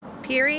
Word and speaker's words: Pierre: Peri Avenue Peri Avenue Peri Avenue pretty much anywhere else in the world this would obviously be Pierre Avenue but not here in Windsor that's not how we say it and it's not